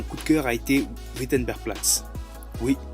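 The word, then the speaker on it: Wittenbergplatz: de cœur a été witenberg plat oui c'est un W là-bas le W se prononce V si vous cherchez votre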